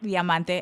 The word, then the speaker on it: Diamante: Like you mentioned, like a lot of people first heard the name Diamante, and I'm saying it right from now on.